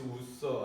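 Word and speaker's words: Ussher: 이제 늘 말씀드리지만 뭐 제임스 우서 아니면 뭐 우서라고 읽기도 하고 뭐 아서라고 읽기도 하고 뭐 그래요. 그 우서라는 사람이 맞는 거예요.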